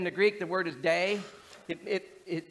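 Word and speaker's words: δεῖ: Greek the word is day it it it it sounds like day d a y is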